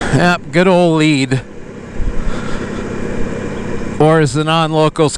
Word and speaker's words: Lead: Nope, sure fire way to tell if you aren't from here is if you call lead lead. And yes, it's spelled that way. It's spelled like lead. But it's lead.